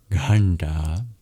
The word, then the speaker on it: ghanta: In this case, these dots indicate that these are retroflex, meaning you curl your tongue back to pronounce them, just like the R. And it's your bottom of the tongue that taps against the hard palate to make the sounds nta, nta in ghanta.